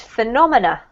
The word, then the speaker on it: phenomena: This is pronounced phenomena.